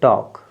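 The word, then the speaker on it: talk: टी ए एल के एल के बाद के है तो आपका जो है एल साइलेंट होना है तो टॉक एल के बाद के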